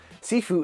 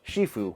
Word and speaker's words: sifu: SIFU is the Cantonese spelling and pronunciation, while you might hear it pronounced and spelled Shifu, which is Mandarin.